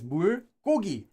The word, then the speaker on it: bulgogi: So it's the reason why it's pronounced as bulgogi. And you could have seen it written like that as well, but it's actually now it's just written like that as one word, but it's pronounced still like bulgogi, literally water meat.